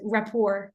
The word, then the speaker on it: rapport: the French way like raor we don't pronounce the T um and then let's